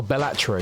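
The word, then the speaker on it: Balatro: Is that how you say it? Yes sir. Oh, Bellatro. I thought it was Bellataru.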